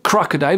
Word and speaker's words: crocodile: je prends par exemple le mot crocodile crocodile vous voyez le la l'apostrophe au tout début ça veut dire que c'est CR qui va être accentué si je reprends le